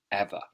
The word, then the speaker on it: ever: common word and again it's got that schwa sound at the end listen to it ever ever normally we wouldn't say ever we would just say ever it's a short sound on the end ever and then we've got